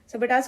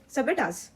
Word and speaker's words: sabotage: सबेटाज। सबेटाज का प्रोनाउंसिएशन क्या है? सबेटाज। क्या है? सबेटाज। अब इसको लर्न कैसे करेंगे?